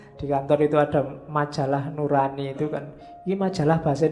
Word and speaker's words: nurani: Terus ya, makanya di kantor itu ada majalah nurani. Itu kan iki majalah bahasa Indonesia apa bahasa jawo? Yao. Kalau bahasa jawo kan bacanya O. Jadinya nuroni atau bahasa Arab.